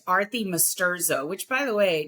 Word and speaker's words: Arti Masturzo: So it's pronounced Arti Masturzo, which, by the way, not a lot of people get the Arti thing right. So that's perfect. And almost no one gets Masturzo right.